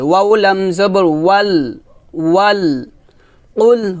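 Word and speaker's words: قل: কফ লাম পেশ কুল, কুল, এখানে আমরা বলি কুল, বলি কুল, কুল বলা যাবে না, বলতে হবে কুল। কফ কফ, কফটা মোটা করে উচ্চারণ করতে হবে একটা পাল্টা আওয়াজ দিয়ে।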